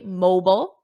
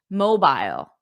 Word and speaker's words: mobile: Now listen to how I said this, because in American English, we say mobile, mobile, mobile. But in British English, mobile, mobile. So if you hear someone say mobile and someone else say mobile, just know that both pronunciations are correct. One is American, mobile, and the other one is British, mobile.